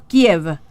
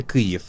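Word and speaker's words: Kyiv: En ucraniano sería Kiev. Es un poco difícil de pronunciar para ustedes, sí, pero así lo escribimos, y la escritura correcta sería K-Y-I-V, V corta. Kiev. Sí, la otra versión es más versión rusa, que fue adoptada, digamos,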